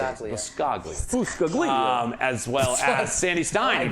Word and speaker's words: Biscaglia: Biscaglia.